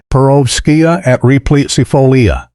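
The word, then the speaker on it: Perovskia atriplicifolia: Russian sage, Profotripsifolia, pronounced Perovskia atripsifolia, the airy silvery blue Mediterranean perennial that signals high-end landscape design to anyone who knows what they are looking at.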